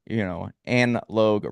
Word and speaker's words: Logue: And I like how you say in your bio, Anne Logue rhymes with Vogue.